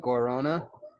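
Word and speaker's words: guaraná: is delicious it's called in in a in american english we call it guarana and they put it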